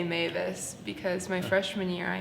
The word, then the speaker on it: Maves: If something is mispronounced, how do we get people to say Mavis again?